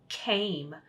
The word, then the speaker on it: came: All right, so again, Jordan, today we're doing the silent E, and silent E makes A say its own name in, watch mom, 8, made, make, came.